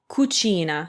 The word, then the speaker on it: cucina: u it's again a hard c for example kuchina so we get ku kuchina kuchina so kumunkwe